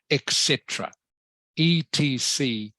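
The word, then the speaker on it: et cetera: the way remember this word here this is pronounced etc etc is the abbreviation Etc and it means and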